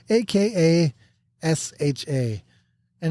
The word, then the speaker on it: Akasha: trying H aesha H AKA s h and if you say it correctly it sounds cool a Akasha Akasha Akasha